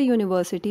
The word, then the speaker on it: university: because name of the university is not given third does it start with consonant sound yes because it starts with consonant sound yo so if all three